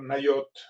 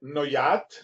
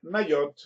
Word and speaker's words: Nayot: Ktiv, o sea que se escribe de una manera y se lee de otra, al intercambiar las letras del nombre de este lugar, Nayot. Se escribe Noyat, pero se lee Nayot.